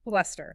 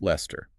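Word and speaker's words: Leicester: The pronunciation of Lester follows the exact same pattern. So, two syllables. Lester. Lester. The knowledge you gain from Worcester immediately transfers to Lester.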